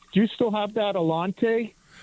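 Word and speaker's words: Allanté: Alante, right?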